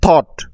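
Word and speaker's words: thought: ফট অর্থ যুদ্ধ করেছিল বা লড়াই করেছিল next থট টি এইচ ও ইউ জি এইচ টি থট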